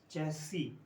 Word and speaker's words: chassis: This is chassis, इसमें double S है वैसे, CHASSIS, चैसी, पीछे वाली एस जो है वो साइलेंट है।